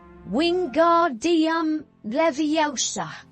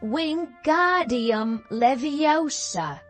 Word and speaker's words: Wingardium Leviosa: "You're saying it wrong," says Hermione in an impatient voice. "It's Wingardium Leviosa. You emphasize the ga."